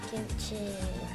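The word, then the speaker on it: kimchi: so there's what's it gimchi um gimchi is how you say it though gimchi gimchi okay how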